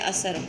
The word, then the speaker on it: اثر: سے تلفظ واضح کریں۔ اثر، الف کے اوپر زبر، سے کے اوپر زبر اور رے کے اوپر شد، یہ بن گیا اثر۔ حسن، ہے کے اوپر